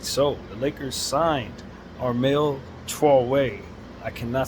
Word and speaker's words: Armel Traoré: So the best way I know how to go is just say Armel Traoré. That's how they pronounce it, with a certain drawl to it that I just can't do.